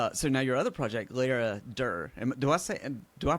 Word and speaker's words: Laradir: So now your other project, Laradir. Do I pronounce that the way you pronounce it?